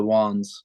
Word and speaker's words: Wans: where so the name how you pronounce the band name is the wands and so I'm originally